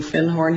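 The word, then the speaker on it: Findhorn: called the magic of fin horn and he corrected my pronunciation he said you mean fin horn he said our fin horn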